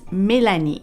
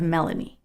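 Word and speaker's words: Mélanie: of my books and the reason for that is that you pronounce it differently in French in French it's milani instead of Melanie I started drawing books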